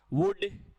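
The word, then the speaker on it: would: तो विल का past वुड, शैल का पास्ट शुड, कैन का पास्ट कुड, कुल्ड नहीं होता, वुल्ड नहीं होता, शुल्ड नहीं होता है, एल साइलेंट है।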